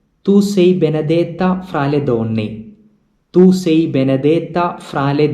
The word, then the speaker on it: donne: It is not done or done, but it is donne. Since there are two n, there is a doubling of the sound.